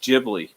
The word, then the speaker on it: Ghibli: you got to look that up studio it's pronounced Ghibli but I still call it Ghibli because it's more accepted and makes more sense